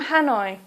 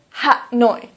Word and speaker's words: Hanoi: Please try to use the English pronunciation. So, for example, Hanoi. Please don't say Ha-noi. Please say Hanoi.